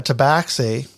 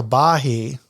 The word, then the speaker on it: tabaxi: Well, this is why Joe and I were constantly battling, because I called it, rightfully so, a tabaxi. Right. And Joe wanted to call it a tabahi.